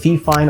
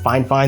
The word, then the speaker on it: Fifine: out that fine fine microphone and i know it's spelled fee fine on the box but it's actually pronounced fine fine they let me know in an email so